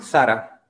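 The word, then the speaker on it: Zara: incluso de europa y se llama sara sara sara vale y no para como dice como decimos acá en brasil esta otra es una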